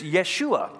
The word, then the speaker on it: Yeshua: of course his name actually in Hebrew is Yeshua which is what we would we say we pronounce it as Joshua but Yeshua in Hebrew